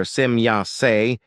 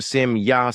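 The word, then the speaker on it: Semjase: As for example with the name of my daughter Simya when the e at the end of the name is pronounced in English as an I.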